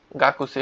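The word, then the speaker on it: 学生: তারপর হচ্ছে গিয়ে গাক্সি। ওকে? কা কু সে ই। কাকু সেই। উচ্চারণটা কিন্তু গাকুসি হয়। কিন্তু আপনারা বলবেন কি? গাকসি।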